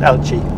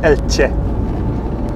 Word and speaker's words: Elche: I'm not an expert, but it certainly isn't Elche. It's something like Elche. Elche. There's a sort of a TCH there, isn't there?